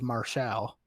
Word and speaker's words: Martial: in the candy store he actually pronounces qt martial's name correctly says marshall i was pretty proud